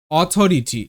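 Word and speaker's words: authority: এ ইউ অ ডি আই ডি ই এন সি ই এনস অ ডি এনস audience মানে দর্শক audience আচ্ছা পরবর্তী শব্দ অথরিটি এটা সহজেই বুঝতে পারবে কারণ কি এখানে দেখো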